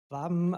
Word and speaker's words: Waben: Waben resembles phonetically the German word Waben, like a honeycomb in a beehive, and so our startups are working busy like bees in a hive.